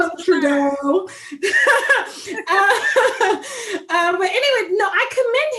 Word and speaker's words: Trudeau: Trudeau. Yeah, his Fine Behind. It don't matter. I just call him Fine Behind Prime Minister of Canada. Yes. But whatever. We can call him Trudeau.